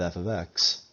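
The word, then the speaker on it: f(x): And this is pronounced f of x.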